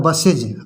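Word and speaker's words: buses: अब इसमें हम ईएस जोड़ देंगे तो हो जाएगा बसेज। अभी तो सा निकल रहा है, लेकिन जब हम ईएस जोड़ देंगे तो बसेज, इज का यहाँ पर साउंड निकल रहा है, बसेज।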